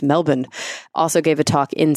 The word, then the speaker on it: Melbourne: Alan Duffy in Melbourne yes that's how you pronounce it I been taught by several people it's Melbourne also gave a talk in Sydney at the